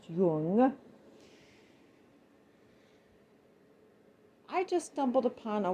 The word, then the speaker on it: Jung: You realize that Freud had a disciple, Carl Jung, spelled Jung, so it could be pronounced Jung, but in German it would be pronounced Jung.